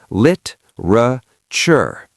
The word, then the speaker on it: literature: Literature, three syllables. The e is gone. Lit-ra-ture. Actually, in American English, that t becomes a little soft, almost a ch sound.